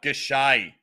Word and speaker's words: Gausha: Gausha.